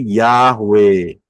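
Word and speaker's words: Yahweh: Kalau saudara lihat tulisannya adalah y he waw he. Itu tulisannya sebelah kiri. Bacanya dari kanan ya. Ingat bacanya dari kanan. Yod itu yang cuman kayak koma di atas yod. He w ya supaya gampang kita dengarnya dengan aksara alfabet ya. mengucapnya jelas yaitu Yahwe.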